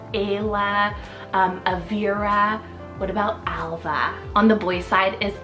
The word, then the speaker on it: Alva: well and Sully means dark eyes Alva salt a-l-v-a Alva this one's a gorgeous English from Irish